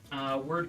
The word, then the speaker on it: Wyrd: I hope that Word Games or Weird Games, however they want to pronounce that. It's WYRD, so it could be That's- either. It's weird. It's weird.